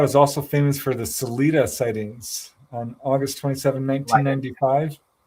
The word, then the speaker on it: Salida: Now, Colorado is also famous for the Salida sightings on August 27, 1995. Yep. Yeah. Yeah. I don't know a whole lot about what was going on in Salida, but I do know that they still have